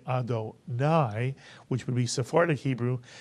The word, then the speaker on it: Adonai: the word Adonai incidentally some of you may pronounce this word adoni I've heard people who read pure spartic Hebrew